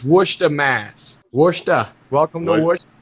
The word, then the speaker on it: Worcester: It's Worcester, Mass. Worcester. Welcome to Worcester. Worcester. So you're saying that's spelled the same way, Clint?